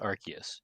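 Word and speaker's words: Arceus: AR Godus archus well it has to be pronounced archus because in AR of the no yes but because in Legends AR archus the phone they give you is an ark phone and if it was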